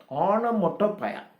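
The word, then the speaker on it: onomatopoeia: ஆனோமோட்டோபயா. ONO ஓனோ, Ono Moto MOTO POEIA ஆனோமோட்டோபயா.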